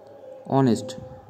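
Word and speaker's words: honest: অর্থাৎ এইচ যদি না থাকতো এখানে তবুও কিন্তু উচ্চারণটা আওয়ারের মতই হতো অনেস্ট মানে সৎ এখানে কিন্তু প্রথমেই আমরা ভাওয়েলের মত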